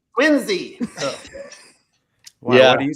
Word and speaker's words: Quincy: Quincy. Quincy.